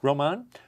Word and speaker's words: Román: uh I hope I do justice to the pronunciation Roman is that right R Roman uh MAA yes and uh there is so